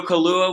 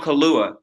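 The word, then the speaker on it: Kaluuya: pronounce his name again daniel kahlua like i think it's like the drink i was struggling about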